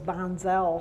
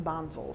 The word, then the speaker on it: Bonzel: across the road as across the campus as bonzal Hall but the Germans prefer the pronunciation Bonzo so that's what I use and I continue